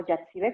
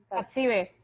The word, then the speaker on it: Hatsibe: Hatsibe o Yatsibe, ¿cómo se pronuncia tu nombre? Hatsibe. Hatsibe o Yatsibe. Hatsibe, así sin Hatsibe, acento ni ok. nada. Hatsibe. Hatsibe, perfecto.